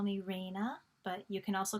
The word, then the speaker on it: Rayna: and her i like if you call me reina but you can also call me ms